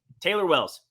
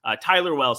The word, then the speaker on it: Tyler Wells: I'm telling you, Taylor Wells, really bad at throwing of baseballs here on one side for the Baltimore Orioles. Tyler Wells, I even said his name wrong.